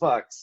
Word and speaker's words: Fux: It would be like, yeah, we are Fuchs from Atlanta, Georgia, but fuck it, you can call us Fucks, you know.